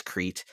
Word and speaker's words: Crete: Oh, I can never pronounce Shania? this. Crete. It's Crete.